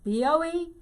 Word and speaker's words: Boehme: I used to tell my students, it rhymes, Boehme. But it sounds like name, same, and old dame.